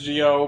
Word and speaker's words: Zi-O: I'm pronouncing it as Gio because that's how they pronounce it. Oh, it is Zio. No, but they pronounce it Kamen Rider It's just them. Grando O Gio because It's pronounced Geo, but Yeah, it's but- spelled with a Z.